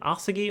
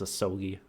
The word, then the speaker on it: Asogi: Is it Asagi or Asogi? I think they pronounce it as Asogi.